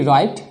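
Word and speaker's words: write: नहीं किया जाता है व के बाद आर आता है तो ये जो डब्लू वर्ड है लेटर है ये साइलेंट हो जाएगा इसका उच्चारण नहीं किया जाएगा जैसे व आर आई टी राइट व आर ओ एन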